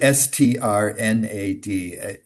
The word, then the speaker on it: Strnad: you say strnad? When there's too many consonants, you can't Strnad.